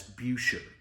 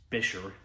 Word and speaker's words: Buescher: the company that was referred to by Trent Hamilton and perhaps other people as buer but apparently the actual pronunciation of it is bisher at least according to every single human on the internet so I'll refer to it as bisher and even just looking